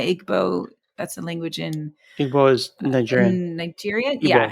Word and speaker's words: Igbo: That's a language in Igbo is Nigerian in Nigeria. Yeah. And so that that one Igbo. Okay. No, I think the G is is is silent. Oh, you don't even say the G.